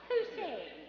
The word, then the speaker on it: Posehn: Posehn, yes.